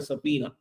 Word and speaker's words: subpoena: we call it a subpoena okay so the B is silent then so then the